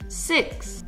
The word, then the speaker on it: six: Ça rime avec mix. Oui. Six. Attention à la prononciation car ça s'écrit comme en français mais on prononce le X.